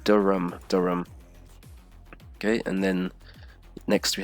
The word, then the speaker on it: Durham: This one, Durham. So like, you can remove the H. It's not Durham or anything. Just and the A is like a U sound. It's like Durham.